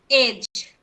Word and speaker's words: edge: So the example for that are the words edge, EDGE, edge. So you can see that before G is D, so D is silent in this word edge. So we will pronounce it edge.